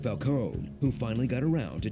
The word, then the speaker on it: Falcone: together they'll take on cd underworld types like falcone who finally got around to teaching people how to pronounce his name felconi paid him off she stood up to falcone